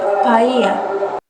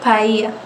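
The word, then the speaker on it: paella: يشتهر بتقديم أطباق مثل بايلا اللي ما بتتنطقش، غريبة دي، بايا.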